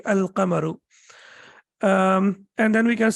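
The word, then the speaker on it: القمر: be a shimsu and here the lime is pronounced and the correct pronunciation will be al-kamaru um and then we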